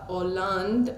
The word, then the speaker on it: Hollande: some international newspapers report Francois or land I think that's how you pronounce it I was thinking if it was pronounced hollandaise sounds pretty much like a rap stars name so Francois Hollande is